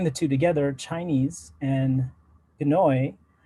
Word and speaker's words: Pinoy: And Filipinos have a term that we sometimes use to refer to ourselves, and that's Pinoy. So if you combine the two together, Chinese and Pinoy, it's Chinoy.